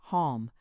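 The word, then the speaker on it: homme: So when he pointed to the word man, which he had printed upon a piece of bark, he learned from Darnot that it was pronounced Halm.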